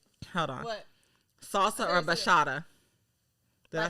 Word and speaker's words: bachata: Salsa or bachata? Did I say it right? Bachata. Did I say it right? Bachata? Bachata. Bachata. Yes. Like you're saying horchata.